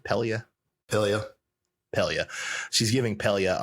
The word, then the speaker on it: Pelia: she's uh giving uh is it palia how do you say her name pelia pelia pelia she's giving